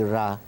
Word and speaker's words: Ra: the same people who who spell it ray r e then go and write the name of the pharaoh ramses ramses which means issue emanating from ra so when they say the name of the pharaoh they say ra but when they say the name of the god they spell it right it's ra it's because it's also